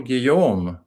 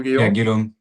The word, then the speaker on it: Guilhaume: So, moving on to Europe and France, we have Paul Guom, AFC. Did I Did I Did I pronounce that correctly? Paul Gillum.